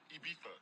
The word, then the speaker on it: Ibiza: Ibiza. Yeah, it's pronounced Ibiza, actually.